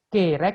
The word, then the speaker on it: kerek: kit yogurtot kirek, Kerek bukan kirek, kerek.